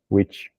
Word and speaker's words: which: bruxa e esse daqui é. Aí tem várias possibilidades aqui. Mas nesse contexto aqui ele tá o qual, né? Ou o que levou a. Tem várias formas, várias traduções aqui. E é a mesma pronúncia do witch de bruxa.